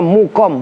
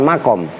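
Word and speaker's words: مُقَام: Summa uqima, kemudian ditempatkan apa al maf'ulu maf'ul bih harokatin mukomahu, karena itu uqima maka isim maf'ulnya mukom bukan makom.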